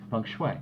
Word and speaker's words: feng shui: should say philosophy of the Chinese which is feng shui did I say it right feng shui there you go feng shui is a physical